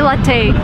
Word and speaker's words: latte: Never and don't say latte this is like the worst thing I've ever heard it's latte lat is Italian word so you drink coffee it's latte not latte so we're looking at